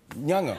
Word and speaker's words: Nyong'o: Were they pronouncing it right? Nyong'o. Nyong'o. Yes. Nyong'o.